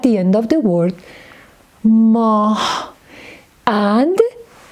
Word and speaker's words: ماه: For instance, in the word ماه. In the word moon, you hear he at the end of the word ماه.